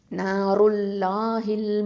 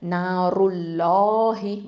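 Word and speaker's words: نار الله: இப்போ இங்கே என்ன இருக்குது, தம்மா இருக்கிறதுனால நம்ம என்ன பண்ணணும், வல்லினமாக உச்சரிக்கணும். அப்போது நாருல்லாஹி, வாயை நல்லா ஓப்பன் பண்ணி சொல்லுங்கள், நாருல்லாஹி.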